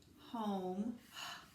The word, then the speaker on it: home: Brought, home. And I know because O says its own name, there's a silent E at the end.